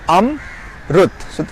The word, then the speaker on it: Amrut: Now it's Amrut. So 2 times my mouth is moving when I pronounce the word Amrut. So my name consists of 2 syllables.